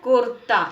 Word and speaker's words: कुर्ता: कुर्ता, उसका उच्चारण है कुर्ता।